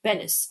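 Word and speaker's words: Benes: First syllable rhymes with pen or hen, as opposed to saying keen or seen, right? Edit, or the entire word rhymes with the common name Dennis, so it's more like Bennis, okay, or like say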